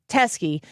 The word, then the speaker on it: Teske: Her last name is spelled Teske, Jen Teskey.